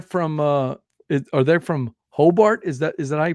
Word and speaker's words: Hobart: frothing but they're from it or they're from Hobart is that is that I pronounce the town yeah that's it yep okay